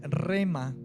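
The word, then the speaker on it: ῥῆμα: palabra en el griego palabra es rema con h intermedia entre la era y la e rema tiene el significado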